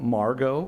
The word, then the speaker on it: Margot: In second place, we have Margot Martin, a fourth grader from North Ranch Elementary. And I appreciate Margot reminding me that the T in Margot is silent.